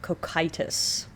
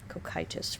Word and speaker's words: Cocytus: I need to remember that that's the pronunciation. Cocytus. Cocytus. River Cocytus.